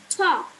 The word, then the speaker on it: talk: Talk. Talk. So, what is the silent letter? L. Yes, L, talk.